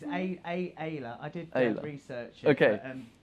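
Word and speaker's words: Ayda: It's Ayla.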